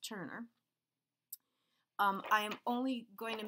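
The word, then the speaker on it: Tønder: is a point ground lease from Denmark called Turner if you ever see it written out it's tio and de are but it's pronounced Turner I am only going to make it as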